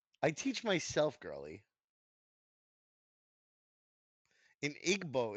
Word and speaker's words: Igbo: No, like so it would be like igwo. If I'm not mistaken, it's like there's a W in between the B and the O.